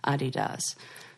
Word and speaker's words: Adidas: yeah D this is the earth excuse me Adi does best I had him say it cuz that's